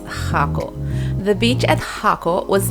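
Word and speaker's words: Jacó: you are in the Jocko area and again you do need a car because it is located off the main road and no buses drive here okay I mispronounced it is hako the beach at hako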